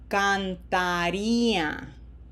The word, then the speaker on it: cantaría: We want to make sure that we open our mouth big for this A three times. This is not a can. This is can. And we don't want to shorten them.